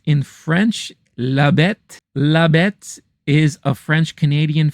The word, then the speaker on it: La Bête: And then I went back to check out The Beast, or as it's pronounced in French, La Bête.